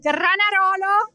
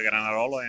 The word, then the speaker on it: Granarolo: Uh we are here at Granarono and I'm speaking with Yeah. Uh correct. First of all, correct pronunciation for for the Granarolo and GR.